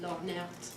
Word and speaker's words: Lhornert: I like to pronounce that slightly French accent, Lornert.